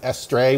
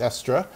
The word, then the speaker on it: Estre: this guy named Esther or actually everyone then pronounced it estray which I think is wrong it's extra um and I was like who he's like